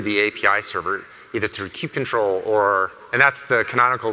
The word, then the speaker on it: kubectl: Users interact with Kubernetes just through the API server, either through kubectl or, and that's the canonical pronunciation, by the way.